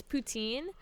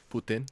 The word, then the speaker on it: poutine: the reason is so in english it's poutine but in french which my family is french putin it's putin putin that's how we say it i see you